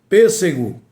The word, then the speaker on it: pêssego: Pêssego tem um acento circunflexo e é uma palavra proparoxítona. Exatamente porque a antipenúltima é a sílaba mais forte. Mas se retirar o acento, a pronúncia fica diferenciada, fica prejudicada e essa palavra não existe. Pessego é uma palavra que não existe na língua portuguesa.